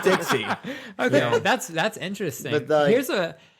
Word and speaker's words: Dexys: Is it Dexys or Dexoys? So it's actually Dixie. It's pronounced or it's spelled Dexy, Dexy or something like that.